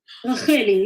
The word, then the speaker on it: Racheli: Did I pronounce it correctly? Racheli, yes.